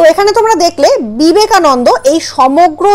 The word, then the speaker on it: বিবেকানন্দ: কারণ উচ্চারণটা ন ন হচ্ছে না, উচ্চারণটা হচ্ছে নন, বি বে কা নন দো।